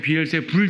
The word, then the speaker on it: 비엘세불: 여러분 킹제임스 성경에는 비엘세붑 돼 있어요. 다른 성경에 비엘세불 돼 있죠. 관계없어요. 발음 차이일 뿐이에요. 발음 차이.